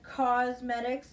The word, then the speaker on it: Causemetics: Here we have a Thrive Causemetics, but it's spelled like cause, C-A-U-S-E, medics.